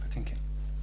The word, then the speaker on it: Patinkin: Is that the correct pronunciation? It is. Patinkin.